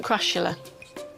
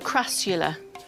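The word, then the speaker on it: Crassula: How do you pronounce it? Crashula. You sure? Looks like a crula to me. Oh, crula. Well, that might be just northern dialect, right?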